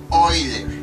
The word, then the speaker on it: Euler: Bueno, en realidad se pronuncia Euler, así, Euler, pero a veces por la costumbre decimos Euler.